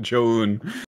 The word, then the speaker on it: Joon: They're like, oh, for those concerned, here's how you pronounce it. Joan.